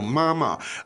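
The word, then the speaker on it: 妈妈: Now, Mama, the tones there are first tone. Mama Yeah. is First and neutral. and neutral for the second.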